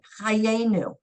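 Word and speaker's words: חיינו: They're here, chayenu. You only hear the one yud with the A and the nu. So Okay. you don't pronounce that one.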